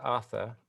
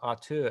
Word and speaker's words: Arthur: just want to quickly go back to Arthur, or Arthur as I should be pronouncing it. Arthur, tell us, Arthur, since we're predominantly French today, Arthur, tell us